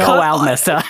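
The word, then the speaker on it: ælmesse: It sounded like almessa.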